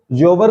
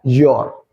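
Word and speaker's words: your: ऐसे ये योवर नहीं होता है, ये क्या होता है योर, ठीक है ना।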